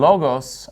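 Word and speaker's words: λόγος: And notice in logos, I'm putting the stress on the first syllable because that's where the accent mark is.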